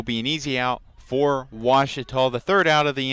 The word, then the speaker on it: Ouachita: for Washita Baptist University back in Texas everybody pronounces it Wichita but really it's Ouachita Washington how would you pronounce it it's Ouachita Baptist University get it right it's Ouachita people